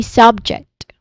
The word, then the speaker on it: subject: Uh for the stressed syllable, it would be the primary stress falls on the first syllable, making it slightly longer and louder. So you say subject again.